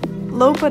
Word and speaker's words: Lopud: see in a bit i did not pronounce it correctly earlier but lopad island is about 14 kilometers away from dubrovnik